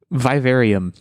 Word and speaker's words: Vivarium: I'm pronouncing this correctly vivarium VI i v a r i u m like aquarium but with via at the front this is a movie